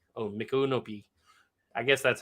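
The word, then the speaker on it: Micanopy: By the way, it's pronounced Mikunopi. Oh, Mikunopi.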